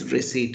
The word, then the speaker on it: receipt: got a receipt okay that p is silent I don't know it's receipt or receipt it's receipt okay that is called as